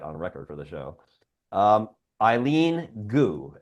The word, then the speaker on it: Eileen Gu: Eileen Gu, I believe is the way you pronounce it. Eileen Gu, G-U.